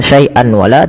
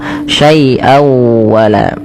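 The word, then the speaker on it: شيئا ولا: tanwin ketemu dengan wau cara membacanya masukkan suara tanwinnya pada lafal syaian kepada huruf wau dengan kita kenal dengan istilah idgham memasukkan bewunah maka sawa masuk ya bukan hanya sekedar saian wala tapi masuk syai wala nah langkah kedua digunah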